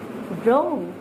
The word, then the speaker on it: wrong: When you will have to leave the sound of W and you just leave the W while the pronouncing words, right, wrote, written, wrist, wrong.